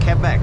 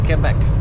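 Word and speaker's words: Québec: i started speaking french quebec not quebec but came back but that's how they say it so quebec where are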